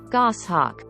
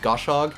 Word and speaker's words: goshawk: just makes it eightier goshawk that's how you actually pronounce it most just call it goshawk it's basically what you